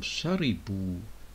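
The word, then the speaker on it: شربوا: And remember that in the form sharibu, the alif is mute. It is not pronounced.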